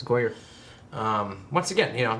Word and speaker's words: Goyer: ] writing um because is it David goyer writing this it's goer um once again you